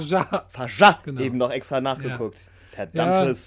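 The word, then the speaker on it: Fargeat: Denn heute sprechen wir über den Film The Substance von von Coralie Farget. Oder Farjat. Farjat. Farjat, Genau.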